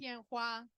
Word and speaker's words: Tianhua: And I'm not going to be able to pronounce his last name correctly. So, Ariane, can you say his name properly? Tianhua.